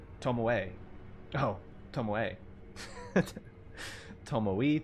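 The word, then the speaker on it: Tomoe: You have to pronounce the E in tommo. Tommoi. Tommoi. Tom. Yeah, sounds better. Um, B tommoay. Oh, tommoe. Tommoi. Tommoay.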